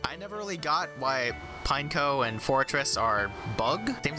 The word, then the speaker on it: Pineco: we'll give like a four pineco it's not pronounced pineco it's a pine cone it's pineco remember that uh it's a pine